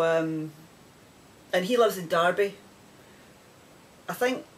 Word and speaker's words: Derby: and he lives in derby i think when you look at it it's derby d-e-r-b-y but it's pronounced darby or maybe that's just a scottish we are saying it darbur and then this one